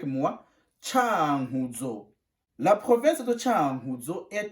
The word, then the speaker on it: Cankuzo: oiseaux ou inhalé mois on prononce chan guzzo tu répètes avec moi tchaoudjo la province de cankuzo et à l'est du